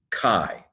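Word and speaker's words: καί: the word for and Kappa Alpha Iota it's pronounced Chi so it's not that the you don't pronounce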